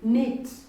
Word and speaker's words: knit: we have a wire like knit one technique the crew is silent when you read in the word the crew is silent so the word is neat neat we have another wire